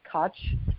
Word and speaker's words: Koch: And it stars Rhea Perlman and Maya Koch, or Czech, I think is the way she pronounces her name.